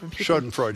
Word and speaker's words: Schadenfreude: How do you pronounce that? Schadenfreude? Schadenfreude, yeah.